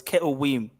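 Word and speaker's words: כתובים: Ketuvim. But if we're talking about, if we were to pronounce it in the more traditional way, it's Ketuvim, because there's no V's or J's.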